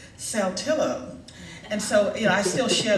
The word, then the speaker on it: Saltillo: I'll tell you, there's a town in Mississippi, and it's spelled Saltillo. And some people would probably call that Satia, but we in Mississippi call it Saltillo.